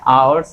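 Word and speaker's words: hours: तो यहाँ देखिए इसका प्रोनाउंसिएशन क्या होता है, आवर्स होता है, यहाँ पर एच साइलेंट होता है, ठीक है।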